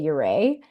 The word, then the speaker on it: Ouray: Most people locally say Uray. Okay. But upon first sight of that word, it only makes sense to pronounce it Uray. Yeah. So it's a Ute word, and nobody's super clear on exactly the pronunciation.